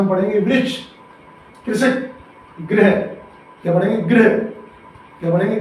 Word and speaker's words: गृह: इसमें पदेन्द्रा लगा है और इसमें ऋषि की मात्रा लगी है, दोनों में अंतर है।